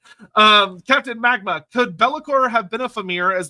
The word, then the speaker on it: Be'lakor: I mean, the addition of the apostrophe in the middle, which is generally a glottal stop. So actually, if we're pronouncing it correctly, it's actually Be'lakor. Be'lakor.